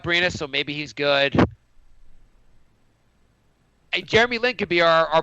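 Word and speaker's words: Jerami: Grant's brother Jan Grant brother how do you pronounce that Jay Jeremy Jeremy okay wasn't even close uh what do you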